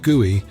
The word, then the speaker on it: GUI: steeper learning curve when the GUI pronounced GUI was made available by Apple Computers in 1983.